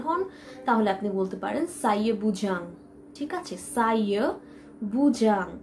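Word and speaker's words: saya bujang: ফার্স্টে আমি যে লাইনটি এখানে লিখেছি সেখানে আমি লিখেছি সাইয়া বুজাং, সাইয়া বুজাং।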